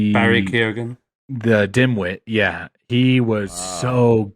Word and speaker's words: Keoghan: To me, Barry Keoghan, how do you say that? Keoghan.